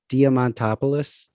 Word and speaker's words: Diamantopoulos: diamond topolous how do you say his name diamantopoulos yeah uh he's he let's just call him